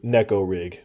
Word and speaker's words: Neko rig: Also, we uh know that the real term is necorig if you pronounce it the way the Japanese intended, but uh we're Americans and we do what we want to do over here.